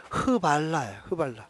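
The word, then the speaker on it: Hvala: 발음 을 읽어 보면 " 흐발라 " 입니다 .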